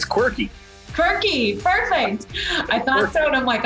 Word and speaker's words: Quirky: me again, Brian, because I don't want to pronounce it wrong. It's quirky.